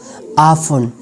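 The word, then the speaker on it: often: Some random words having T silent, कुछ और भी वर्ड्स ऐसे हैं जिनमें टी साइलेंट हो, जैसे कि आसमा, रेपो, रेपो, आफन.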